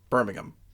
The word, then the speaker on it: Birmingham: Okay, so what is the English pronunciation? Birmingham.